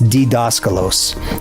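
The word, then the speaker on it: διδάσκαλος: It's actually it's actually um well the D is actually pronounced like a D apparently. So it's ddoscalos.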